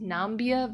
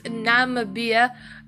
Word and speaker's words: Namibia: how you pronounce it I thought it was pronounced nambia but I I don't I don't think so um I had to actually go and watch a video on how to pronounce this country it's Namibia and well